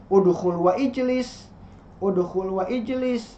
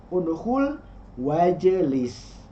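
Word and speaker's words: ادخل واجلس: Jadi tidak dibaca udkhul wa ijlis, tapi dibacanya udkhul wajlis.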